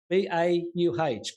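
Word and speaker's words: BAUH: I bet it's BAW. Bore? Is it bore? B-A-U-H. I would think it would be pronounced BAW. I watched your video and that when you brought that up. And I'm thinking, I'd say BAW. Bernard? It's bau. It's Portuguese, apparently.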